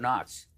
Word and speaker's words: Knox: The interesting thing about Fort Knox is that the K is silent.